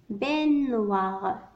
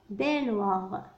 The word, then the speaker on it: baignoire: عندما نراها exemple هنا كتبنا GN مثل هذا الصوت كتبنا GN لكن لا ينطق نية وإنما baignoire baignoire d'accord donc لا أنقل هذه